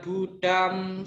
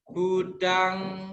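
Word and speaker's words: buddhaṃ: M titik atas bacanya apa? Budang. Ya, bukan budam ya. Ingat ya. Kalau saya tadi kan bacanya budam. Nah, kalau baca budam berarti salah. Bacanya yang betul adalah budang. Saranang gacami.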